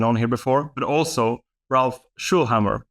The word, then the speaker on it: Schöllhammer: here before, but also Ralph Schöllhammer. Is that the correct way of saying it? Flawless. Yes, you pronounced it flawlessly.